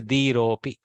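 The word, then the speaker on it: धीरोऽपि: With the elision, there is a avagraha in writing, but the pronunciation is dhiropi.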